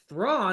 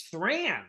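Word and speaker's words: Thrawn: really does like I'm not guessing or like mispronouncing it for my entire life thraw I thought it was thran you um so hopic is excellent so do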